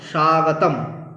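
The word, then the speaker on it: স্বাগতম্: স্বাগতম বলতে পারবো না ম এর পুরো উচ্চারণ হবে না এখানে কি হবে স্বাগতম ব্যাস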